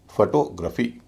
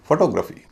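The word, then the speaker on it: photography: फिर हल्का फिर भारी फोटोग्राफी ना कि फोटोग्राफी और जितने भी शब्द हैं जिनके अंत में जी आर ए पी एच वाई है उन सब में भी जी आर ए पी एच वाई का उच्चारण रफी ही होगा ग्राफी नहीं होगा जैसे जियोग्राफी ज्योग्राफी भी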